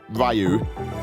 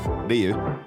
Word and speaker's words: Ryu: Make sure you say it right as well. It's not Ryu. Ryu.